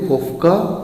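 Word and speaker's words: Koffka: प्रयोगकर्ता कोहलर थे और सहयोगी कोफ्का या कोफ्फा थे। इसमें कन्फ्यूजन नहीं रखना, ये प्रोनाउंसिएशन अलग है क्योंकि सभी जर्मन नेम है। तो कहीं पे आपको ये कोफ्फा मिलेगा, कहीं पे आपको कोफ्का मिलेगा, ठीक है।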